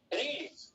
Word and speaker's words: read: इसका pronunciation रीड होता है, इसका प्रोनाउंसिएशन रेड होता है। रेड कलर बोलते हैं ना, रेड कलर।